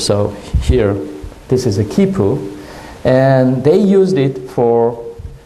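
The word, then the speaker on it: quipu: That has even the pronunciation, kipu.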